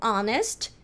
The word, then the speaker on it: honest: mantenha pronúncia do latim então isso daqui a gente falar honest sem som de ch então não vou falar